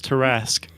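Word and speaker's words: Tarrasque: write so t-a-r-r-a-s-k hello we're teaching how to pronounce tarasque it's also a gargantuan so and I think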